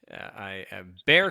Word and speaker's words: Bexar: So if you take that and kind of take that X and turn it into an H, then it kind of makes sense.